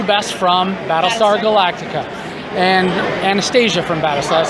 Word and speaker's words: Anastasia: So I'm here now with Kandyse McClure, and we know you best from Battlestar Galactica, and Anastasia from Battlestar.